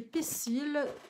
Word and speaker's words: Poïsil: C'est Pessil, qui s'écrit Poïsil. Le voici, le voilà.